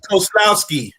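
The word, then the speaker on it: Kozłowski: team he plays for does anyone want to pronounce the name it's cole koslowski yeah he's like a bond villain but yeah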